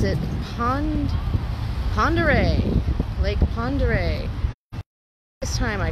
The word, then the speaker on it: Pend Oreille: this is like i've recently discovered how to pronounce it pond pandere lake pondere this time i called it pandarel but it's check this water out it's gorgeous